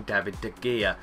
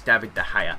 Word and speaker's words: David de Gea: got David DEA or some people call him David de gear or David de gear or David DEA but it's David DEA that's how you pronounce it there you go you learn something